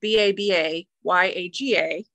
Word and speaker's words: Baba Yaga: So in Slavic folklore, Baba Yaga, which is spelled B-A-B-A-Y-A-G-A, mm-hmm. also spelled B-A-B-A-J-A-G-A. That's the Polish version. Sure. Okay. Kind of pronounced the same way, Baba Yaga.